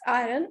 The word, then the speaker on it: iron: you to know are iron remember iron is pronounced as iron written as i r o n at times uh I also pronounce it as iron but the correct word is iron so we